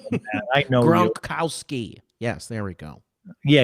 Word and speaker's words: Gronkowski: but he does have his binky as Rob Gronkowski. Come on, you can pronounce a Polish name better than that. I know you. Gronkowski.